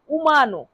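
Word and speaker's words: umano: মানুষ তাহলে মানুষের ইতালিয়ান অর্থ হবে উমানো।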